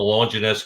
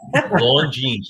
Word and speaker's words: Longines: And the Longinus clock. Am I saying is it pronounced Longinus?